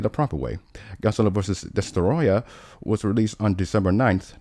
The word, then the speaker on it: Destoroyah: There's so many ways to pronounce his name. Well, I'm going to say it the proper way. Godzilla vs. Destoroyah was released on December 9th, 1995, earning just